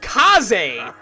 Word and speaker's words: Kaze: Apparently, the character Kaze, apparently it's pronounced Kaze. How in the world would anyone pronounce that? It's literally K-A-Z-E.